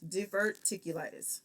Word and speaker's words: diverticulitis: health problems including acute gastritis hypertension gout and diverticulitis diverticulitis is how that's pronounced okay so again we have somebody who